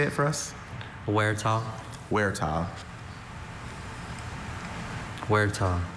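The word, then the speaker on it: huerta: Any alternate pronunciations? I have just the one. Wera. Can you say it for us? Werah.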